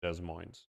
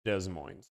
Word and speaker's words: Des Moines: Guys, it's Des Moines. I'm telling you, I know this better than you guys. It's Des Moines.